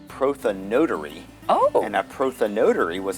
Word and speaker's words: prothonotary: It's a tricky name, and I guess maybe the better pronunciation would be prothonotary.